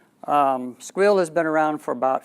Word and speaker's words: Sguil: another 1s GUI L which is pronounced squeal squeal has been around for